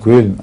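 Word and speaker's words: Köln: ہاں کوئل. جی. یہ لفظ کولون جو ہے وہ غلط تلفظ ہے، اوڈی کولون سے بن گیا ہے زیادہ مشہور. جی اصل میں کوئل ہے.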